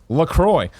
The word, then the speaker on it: LaCroix: it says hibiscus liqueur a sparkling water announced pronounced Lacroix was developed to give health-conscious consumers refreshment flavor